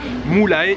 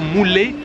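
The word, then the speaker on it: Mullae: Alors on le lit en bon français, Mulae, M-U-2-L-A-E. Je pense que ça se prononce plutôt Mulae Art Village.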